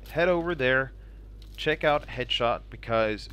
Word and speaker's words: HDSHT: a video over at headshot calm which is spelled the headshot without the vowels so it's HD sh t com where you can where